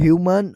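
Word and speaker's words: humane: ह्यूमन और ह्यूमैन। यह दोनों वर्ड्स अक्सर कंफ्यूज होते हैं क्योंकि स्पेलिंग मिलती जुलती है लेकिन यूज़ और मीनिंग कंप्लीटली अलग है।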